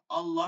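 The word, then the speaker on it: الله: চলেন, আল্লাহ শব্দ পুর বা মোটা।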